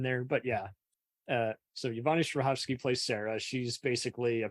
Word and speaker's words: Strahovski: But then there's Chuck with Zach Levy in, how do you pronounce, Yvonne Strahovski? Yvonne Strahovski.